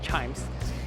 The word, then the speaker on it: CHIJMES: So if you notice, actually it's CHIJMES, but it's pronounced as chimes. So just pretend the J is not there.